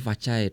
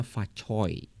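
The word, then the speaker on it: Fa Cai: Dulu kan misalnya Gongsi Facai, terus aku tahu dari temen yang Cina, katanya bacanya Facoi. Ya itulah pokoknya oi gitu. Selamat, semoga berkah Imlek ini bisa memberkati semua orang.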